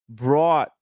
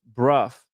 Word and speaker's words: Brough: Brought pronounced Bruff.